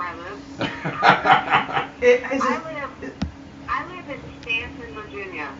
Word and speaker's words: Staunton: I live in Stanton, Virginia. It's spelled Staunton, but it's pronounced Stanton because during the Civil